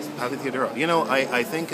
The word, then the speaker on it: Papatheodorou: I'm here with Dimitri papor I'm sorry I said your name wrong oh that's all right most people do it's Papa theodoro Pap theodoro you know I I